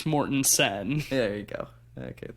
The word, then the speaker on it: Mortensen: Is it pronounced Viggo Mortensen or Viggo Mortenstein, or is it Steen? It's Mortensen.